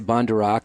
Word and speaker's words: Bondaruk: For the spelling, it's Bondaruk, and I say Bondaruk, and it just doesn't seem like it would spell that way.